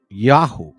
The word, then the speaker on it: IAUH: I A U. The Y in this case is kind of backwards. Or you'll hear me say Yahoo.